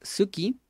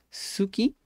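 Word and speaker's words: すき: vamos a continuar gustar suki suki Ok Ok casi no se pronuncia la u Pero bueno pongo suki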